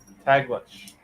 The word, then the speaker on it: Taglish: Taglish. The stress is on the second Syllable for the Tagalog.